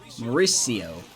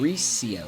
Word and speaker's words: Mauricio: So now here is Mauricio. That's it. started in the inning. Mauricio. It's like saying Maurice and then EO.